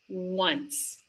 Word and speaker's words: once: Once that has the www sound and you can make that sound by forming an oo shape with your mouth. Woo. If you do it very very slowly, the sound is ww ww. Then you speed it up and it just sounds like the w sound once.